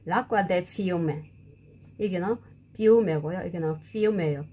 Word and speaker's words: fiume: 푸신푸신한 거 l'acqua del fiume 이게는 fiume고요. 이게는 fiume예요. p와 f 발음 차이가 나죠.